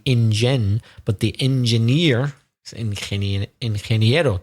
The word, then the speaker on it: ingeniero: but the engineer is ingeniero. Difficult for us to pronounce. Ingeniero or ingeniera. Ingeniero. It's difficult.